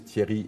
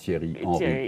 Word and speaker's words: Thierry: I think for everyone the best reference I can have to know where my name comes from and how to pronounce is you have a very famous football player called cheering yeah same thing yeah